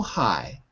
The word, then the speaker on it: high: hi hi there yes it's just like hi like hello like ciao hi so high repeat so hi that's it that's it because you're always saying height or H you're always putting a little consonant GH is silent hi anyway you got